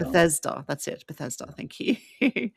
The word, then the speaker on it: Bethesda: Beth Bethesda. Bethesda. That's it. Bethesda. Thank you. I'm so bad with pronunciations as you can tell.